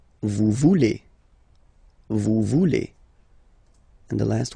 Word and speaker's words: voulez: Same thing here, classic ending EZ for vous, but then you pronounce it et. Vous voulez. Vous voulez.